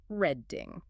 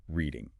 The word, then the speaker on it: Reading: many people to say red. But the critical distinction is that it's pronounced exactly like the verb reading, as in I am reading a book. You have to keep that long e sound.